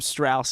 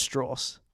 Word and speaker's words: Strauss: yeah stress it's funny in the film calls him Strauss and he's like it's straws so I think it's pronounced